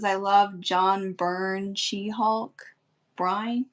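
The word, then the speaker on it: Byrne: says I love John burn shehulk brine is it burn bur b y yeah it's pronounced burn okay I just never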